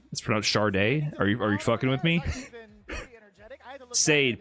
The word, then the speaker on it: Sade: Sade, pronounced Charday.